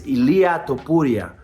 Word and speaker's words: Ilia Topuria: champion won and I I apologize for mispronouncing his name is Ilah topura and I'm out here